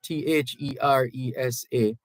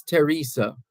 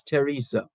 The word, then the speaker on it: Theresa: How can I get, and by the way, the pronunciation of this name, T-H-E-R-E-S-A, the H is silent. So it's Teresa as opposed to Theresa. It's Teresa.